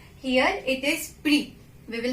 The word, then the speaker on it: prix: So we will not pronounce X at the end of word. Here it is prix.